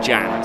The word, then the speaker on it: Can: It says Can, but it's actually pronounced Jan, so there you go.